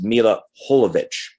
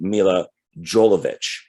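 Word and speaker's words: Milla Jovovich: and all that it's mila holovich the j is pronounced as an h um but in america a lot of people say mila jolovich um she does make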